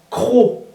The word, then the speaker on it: croc: Croc, C-R-O-C, qui est un crochet en fait. Il y a le C comme dans crochet, mais on ne le prononce pas.